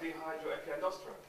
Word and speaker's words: dehydroepiandrosterone: Is that dehydroepiandrosterone? Pronounce it, sir.